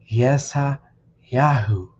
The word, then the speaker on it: Yeshayahu: The name Isaiah should be rendered as Yeshayahu.